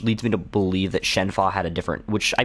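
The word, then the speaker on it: Shenhua: Yeah, this one, that's one that the dub changes a little bit, but I think that's actually how it's pronounced with like the Chinese pronunciation.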